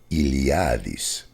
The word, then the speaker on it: Eliades: and his last name eliades and that's the same and well actually in greek eliades is pronounced iliadis so that's all in